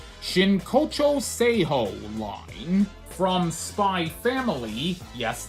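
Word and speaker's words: Spy x Family: From Spy Family, yes, the X is silent, like the X is silent in the title of Hunter x Hunter.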